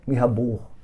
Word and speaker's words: Mirabeau: nome dele aqui em escrito em português é mirabeau mas em pronúncia em francês é minha burro é ao encontro dos